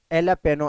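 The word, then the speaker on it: jalapeño: जैसा कि एलापेनो एक वर्ड है, वहाँ पे जे साइलेंट है।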